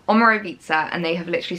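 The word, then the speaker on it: Omorovicza: and on the note it says pronunciation omero vitza so there we go omaro pizza and they have literally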